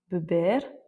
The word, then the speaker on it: beber: Et le premier cas de figure, c'est quand on a un R en fin de mot, donc quand c'est la dernière lettre. par exemple asukar, beber, ir ou encore sior. Donc on l'entend en fait assez peu, il est assez doux.